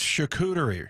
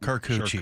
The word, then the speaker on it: charcuterie: It's charcuterie, right? Not Carcucci.